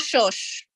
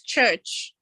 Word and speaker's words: church: not so for example it's not shush it's church right so they would say